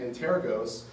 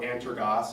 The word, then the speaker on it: Antergos: But currently, in the top 10 are Linux-based distributions used today, Manjaro and Antergos, or Antergos, however you want to pronounce it.